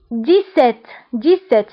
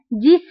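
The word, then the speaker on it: dix-sept: ليكزامبل الثاني 17، فهنا قلنا بحال 10 6 17، دونك هاد الاعداد بصفه عامه فاش كتكون اكس في الاخر كنقراوها باس، 17 17. داكوغ. دونك اكس فاش كتكون مع 10 ولا 6 ولا 17 فكتقرا باس.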